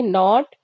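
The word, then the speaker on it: knot: का मतलब होता है टमस यहां पर के साइलेंट होगा तो इसे हम पढ़ेंगे नॉट नॉट का मतलब होता है गांठ एच ए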